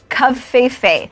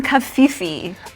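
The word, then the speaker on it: covfefe: Okay, so one Associated Press writer gave us a pronunciation guide, Kavfefe, but I'm still on team Kafifi. See, I was thinking Kafife.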